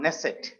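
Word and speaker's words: Knesset: we discussed right now we start with k but k is silent ah nesset okay and the number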